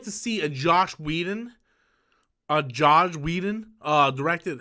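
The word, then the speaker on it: Joss Whedon: It's like one of those things that's easy to write and impossible to say, because no matter how you say it, it sounds like Josh.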